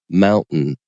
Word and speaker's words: mountain: to say omitting so you're thinking of words like Mountain where I just pronounced it with a t sound but you can instead of you don't just drop the te out you change into a glottal stop so Mountain so there's